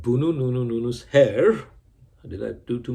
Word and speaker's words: Boonoonoonous: So let's try to pronounce it first. We'll do it slowly. Boonoonoonous. Okay? Try it again with me. Boonoonoonous.